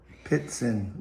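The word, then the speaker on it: Ptitsyn: Pritson That's a T. Pitson. We'll just call it Pitson.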